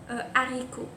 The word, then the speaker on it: haricot: il s'agit d'un âge aspirer le déterminant se prononce en tienne on dit le haricot exemple le hibou on dit pas un niveau